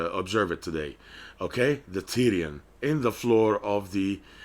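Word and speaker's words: pterion: area it's called the Tyrian starts with a P but the P is silent Tyrion is of clinical importance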